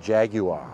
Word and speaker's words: Jaguar: probably cringe hearing us not pronouncing it Jaguar Jaguar yes like the Brits do but yeah the I still say jaguar the data plate for